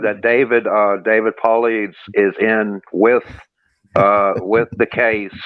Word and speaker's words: Paulides: So nobody says that guy's name right. Nobody. Yeah, David Paulides, David. I hear a lot. I got some missing teeth, so I can't pronounce anything right. Ladies a lot. Nobody ever gets it right. It's David Paulides, ladies and gentlemen.